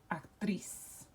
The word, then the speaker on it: actriz: So it has to be accented or emphasized on the last syllable. And so we would underline that and we would pronounce that actriz. Actriz.